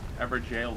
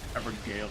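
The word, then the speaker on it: Evergaol: Gale. I always say it wrong. You always say it with a J. With the G. Everjail is correct. Evergale is incorrect.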